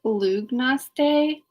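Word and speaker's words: Lughnasadh: end of the summer so it's also called lugnas day which is spelled l-u-g-h-n-a-s-d-h and that is named after a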